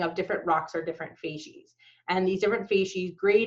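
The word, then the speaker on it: facies: of sedimentary fases so this word f s or sorry f a c i s is pronounced fases and fases are sets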